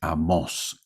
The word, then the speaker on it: Amós: los libros de amos obviamente es con tilde en las mayúsculas no tiene tilde aunque se recomienda que sí no le he puesto tilde por ser mayúscula pero lleva tilde amos y el otro libro